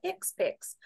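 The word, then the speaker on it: HCPCS: only one of the two-part coding system called Hicks picks pronounced expects CMS developed the healthcare common procedure coding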